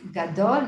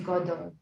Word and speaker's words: gadol: So if you're saying gadol, you wouldn't say gadol, you would say godol, because it has the gimel has a kamatz on the bottom.